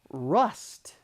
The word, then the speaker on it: rust: This is important because if your tendency is to use the katakana pronunciation of dasto, it's very difficult for English speakers to understand this difference. So if you practice rust versus last, this vowel sound will help your pronunciation.